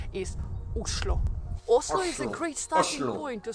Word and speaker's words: Oslo: of no and actually in Norwegian the right way to pronounce the name of the capital islo a great starting point